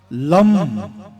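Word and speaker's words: लं: हमारा मूलाधार में, और उसका मंत्र उच्चारण करने का मंत्र क्या होता था है? लम, ल के ऊपर बिंदी, डॉट, लम लम लम ये तरीका इसका होता था।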